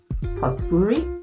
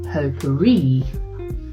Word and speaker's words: potpourri: How would you pronounce that? Poturi. Absolutely not. It's pronounced poperri.